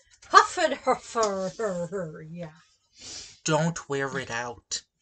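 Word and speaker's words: Hfuhruhurr: here no it's just it's spelled just like it sounds i'd be shocked if that was on there yeah h f u h r u h u r r huffed her fur yeah don't wear it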